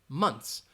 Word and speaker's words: months: months you can do you can slightly hear that th sound months months all right I am